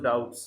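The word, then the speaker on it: doubt: have some ডাউট, TOUPT, এখানে বি এর উচ্চারণটা সাইলেন্ট হবে, আই হ্যাভ সাম ডাউট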